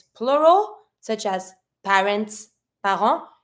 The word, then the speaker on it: parents: it's plural such as parents par you're never going to pronounce the S Plus you're never going to pronounce a final T the only consonant that